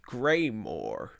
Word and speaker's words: Greymoor: land of some sort called greymore and it's spelled g-r-e-y-m-o-o-r like more and so it looks